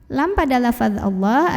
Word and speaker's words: Allah: dipanjangkan 2 harokat Allah atau alam jalalah dibunyikan secara tarqiq karena huruf sebelumnya yang barisnya di bawah jadi bacanya tipis Bila lah tidak perlu mengangkat